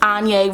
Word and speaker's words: Ane: If you are new to my channel, my name is Ane Rhymes with Kanye.